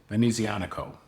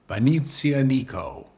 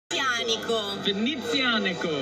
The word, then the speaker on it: Venezianico: Now, I used to pronounce it Venezianico, and I recently learned, surprise, surprise, I was mispronouncing it. So I have it on excellent authority, the proper pronunciation. Venezianico. Venezianico.